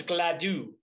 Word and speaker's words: Gladue: There is also Raphael Gladue. I think he's going to be the right fielder. So G-L-A-D-U. So it's Gladue.